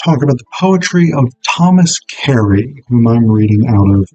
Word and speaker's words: Thomas Carew: we're going to talk about the poetry of Thomas Kerry, whom I'm reading out of the Cavalier Poets, um, an anthology from Dover Thrift Editions. Now, his name is pronounced Thomas Kerry, even though it's spelled Karu.